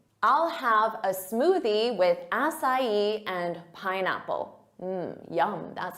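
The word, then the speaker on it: açaí: Our next word, a lot of native speakers have no idea how to pronounce this because it isn't a word of English origin. So they'll say acai or acai, but that's not it. It's acai, acai.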